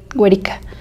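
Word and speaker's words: Werika: Y se escribe así, W-E-R-I-K-A, Güerica.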